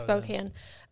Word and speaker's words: Spokane: spokane washington or spokane i think they say they pronounce it spokane they pronounce it court